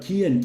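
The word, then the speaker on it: Cian: So, he's pronounced that not Chian, but Kian Kian Pendergrass.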